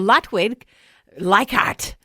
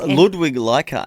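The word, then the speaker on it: Ludwig Leichhardt: Well, Lutwig Lyart, he set off Ludwig Lyart. Yes. Is that how you say it? Ludwig. I said it completely wrong.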